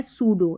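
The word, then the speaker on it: pseudo: देखिए [अचानक ज़ोर से सांस लेने की आवाज़] पी एस और पी एन से शुरू होने वाले कई शब्दों में पी साइलेंट होता है।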